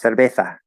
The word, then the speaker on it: cerveza: If you happened to be born in Spain, even though you're Mexican, right, you would have learned how to pronounce cerveza and be able to do the TH.